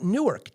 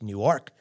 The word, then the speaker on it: Newark: a Newark Delaware and it's not Newark Delaware it's New York Delaware that's how you say it and any rate